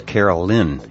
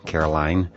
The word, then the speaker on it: Carolyn: And I'm still not sure if I'm getting this right, but I think the proper pronunciation of her name is Carolyn F., not Caroline.